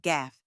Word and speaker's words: gaffe: And even though it looks fancy, it's super simple to say just gaff. Quick spelling tip. It's spelled g a f, but that e at the end totally silent. So just stick with gaff.